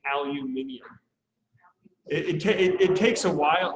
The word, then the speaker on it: aluminium: And then aluminum, or if you want to say it correctly, aluminium, and if you want to just sound fancy, right?